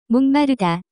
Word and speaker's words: 목마르다: To be thirsty, the pronunciation of this word is closer to 목마르다.